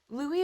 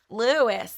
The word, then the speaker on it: Louis: to say his name I was calling him Louis stumbling-stone and they're like that's not how you say it I'm like oh Louis and they're like no it's Louie and I'm like oh